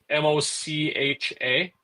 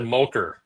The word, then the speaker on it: mocha: It's a Mocha. Mocha. Oh, that's not what you said. You said mocher just a minute ago.